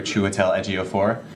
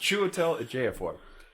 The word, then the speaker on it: Chiwetel Ejiofor: It was just like any other Saturday for Chiwetel Ejiofor.